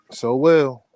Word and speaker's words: Sowell: Yep, Sowell. Cool. How I do everything, so well.